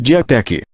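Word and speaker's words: διαθήκη: interesse e indicar livros Esta palavra no latim é pronunciada como testamento em grego pronunciamos diatec Como já dissemos a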